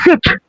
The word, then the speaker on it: siege: Namanya Siege, bacanya Siege, S-I-E-G-E, Siege of Yerusalem.